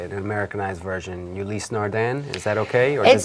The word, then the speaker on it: Ulysse Nardin: All right, okay, so on this one, so in French we pronounce that Ulysse Nardin.